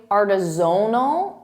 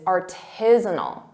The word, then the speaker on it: artisanal: Sometimes native speakers and students confuse the syllable stress and they say artisanal and they put the syllable stress on zone, which isn't correct. The correct pronunciation is artisanal.